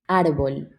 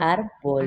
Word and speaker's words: árbol: Árbol. Ar- Árbol. arbol? Yeah, it's like a bowl, but árbol.